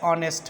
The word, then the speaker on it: honest: here and article and our like that Dash honest man honest man yes dishonest this also begins with consonant letter but it's pronounces begins with boil sound so we have